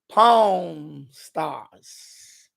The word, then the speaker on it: Pawn Stars: Although in the beginning, because I don't want to pronounce it the wrong way, and they might think it's the other word. Pawn Stars. Pawn. Like pawn shop.